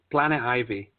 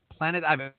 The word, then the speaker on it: Planet Ivy: I don't want to butcher the name. Planet Ivy. Planet Ivy.